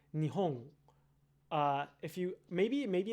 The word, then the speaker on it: Nihon: in the back, like your tongue will touch your uvula on the N in Nihon, the final N, that is. You can say it like that, but you can also say Nihon.